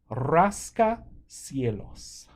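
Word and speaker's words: rascacielos: Dennis que es un Raska Cielos didn't hear you guys roll the r there so try it again literally a sky scratcher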